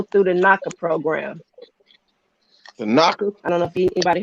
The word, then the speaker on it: NACA: The knocker, I don't know if anybody heard about the NACA program. so spell it NACA, knocker like NACA, all right, NACA.